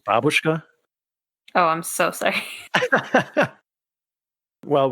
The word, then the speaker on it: babushka: a little babushka it's actually pronounced babushka oh i'm so sorry